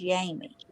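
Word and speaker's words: Jaime: a i m me her her name is spelled that way but she says it's yamie so I was just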